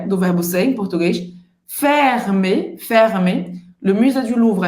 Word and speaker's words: fermé: Fermé, fermé. Le musée du Louvre é fermé. Le musée du Louvre é fermé. Então aqui a gente só tem o R, que é gutural, né?